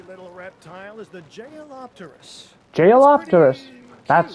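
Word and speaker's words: Jeholopterus: Jailopterus. That's how you pronounce it.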